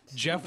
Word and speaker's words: Jeff: him jeff is an absolute stud so it's jeff not joff i remember it as jeff james well i would trust you i would never trust my pronunciations it's jeff that's just another way to spell jeff jeff